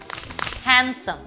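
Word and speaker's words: handsome: strong একটা sound but ডিও কিন্তু অনেক ক্ষেত্রে সাইলেন্ট হতে পারে যেমন খেয়াল করে দেখেন স্যান্ডউইচ হ্যান্ডসাম ওয়েন্সডে এই সকল ক্ষেত্রে আমরা কিন্তু ডিটাকে প্রোনাউন্স করছি না আরও কিছু এক্সাম্পল আছে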